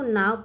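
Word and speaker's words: now: ठीक है नो क्या इसको नो पढ़ेंगे नहीं इसको नाव पढ़ते क्या पढ़ते हैं नाव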